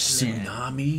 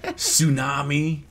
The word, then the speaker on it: tsunami: Tsunami of shred. But wait a minute, isn't there a T in front of tsunami? Yes. Well, so the T is silent, so it shuts its mouth anyway.